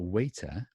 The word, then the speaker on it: waiter: Now the question to me is if American English has this soft T, or American English has this soft T, so is it the same?